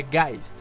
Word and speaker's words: Geist: de aquí ya que si bien se escribe hayes se pronuncia guys al ser un término